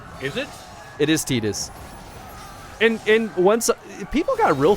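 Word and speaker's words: Tidus: I'm assuming it's Titus. It's based on Tide. It's Titus. Is it? It is Titus.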